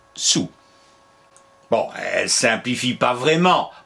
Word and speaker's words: saoul: se prononce au masculin le l ne se fait pas entendre et la seule chose qu'elle met c'est voir s puisqu'elle nous y invite allons-y s sous au féminin au masculin l'elle ne se fait pas entendre donc visiblement faut prononcer sous bon elle simplifie pas